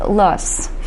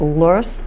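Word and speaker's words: loess: get five different pronunciations I'm gonna go with lust that's the way that I pronounce it but I've also heard loose loose loose very strange pronunciations of the l word let's look first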